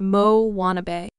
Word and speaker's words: Moanabe: On the fictional South Pacific islet of Motunui, there now exists a variety of tween girl known as the Moanabe, pronounced Mo-wannabe. These eager, occasionally awkward, youthful